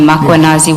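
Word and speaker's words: Mkhwanazi: Do you see the title of the document draft for MMC iPad Makuanazi just as you pronounce his name Makuanazi with the A.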